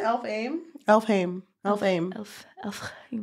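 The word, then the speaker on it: Elfhame: h no you didn't the H is silent it sounds like an F I thought wait what isn't it elf aim elfh elf aim elf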